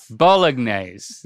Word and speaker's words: Bolognese: I thought the G was just like a little bit in there. Bolognese. I can't say it. Bolognese is how I.